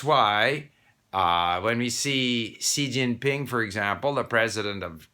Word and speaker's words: Xi Jinping: everywhere they call him g jinping it's c xi jinping so in many ways the yale romanization was